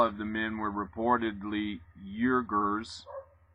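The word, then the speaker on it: Uyghurs: the men were reportedly urgers why how do you say that uh why no u y g h u r s get a load of this you want to know who the eugers are a local muslim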